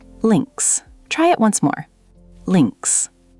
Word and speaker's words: links: In German, left is links. Can you try saying that? Links. Perfect, Devendra. The I sound is short, like in sit, and the S at the end is like a Z sound. Links.